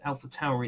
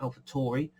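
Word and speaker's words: AlphaTauri: Apparently it's Alpha Tauri it's pronounced, not Alpha Tauri.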